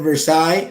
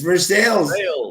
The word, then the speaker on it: Versailles: was watching the Olympics right that they said Versailles I'm like you're saying it wrong it's versales you you Frenchman what's wrong with you it's